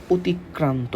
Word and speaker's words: অতিক্রান্ত: উচ্চারণ আসতে পারে অতিক্রান্ত এটার উচ্চারণটা একটু দেখো এটার উচ্চারণ হবে এরকম অতিক অতিক বানান এভাবে হবে ক্রান্ত ক্রান্ত এখানে একটা হসন্ত হবে তোমরা উচ্চারণের সময় এই হসন্ত গুলো একটু খেয়াল করে দিও নাহলে কিন্তু বিপদে পড়ে যাবা ওকে এরপরে লেখক বলতেছে